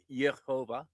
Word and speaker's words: Jehovah: Jehovah, that's God. And it's actually pronounced Yhovah.